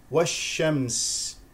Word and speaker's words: والشمس: اذا جلاها جلاها جلاها والشمس نلاحظ هنا ان الالف واللام شمسيه ولا تلفظ وجاء بعدها شين مشدده اذا شين ساكنه شين مفتوحه شش لا تنسى صفه التفشي في الشين ميم ساكنه والشم س